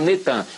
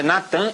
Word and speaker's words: Natan: No dia 4 de novembro de 2002, lança o nome do ex-primeiro-ministro de Al-Shorur de Israel, Natan, é Natan, eles já fizeram o sincretismo, botaram Netan, mas é Natan Yarro.